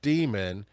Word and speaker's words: Daemon: The first book is called Demon by Daniel Suarez, and it's spelled like a computer demon, Daemon.